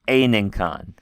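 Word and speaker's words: ἤνεγκον: Don't forget the gamma kappa is more like an unk sound there. It's not a good k, but it's a unk. It's Aninkon. Pharaoh, I carry.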